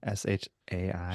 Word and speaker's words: Shai: name Shay gilgas Alexander that's all I call s h a i Shai Shai gild call him sh SGA let's